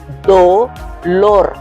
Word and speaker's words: dolor: Si la dividimos en sílaba es dolor. ¿Cuál es la que suena más fuerte? Lor esta, de lo contrario diríamos dolor.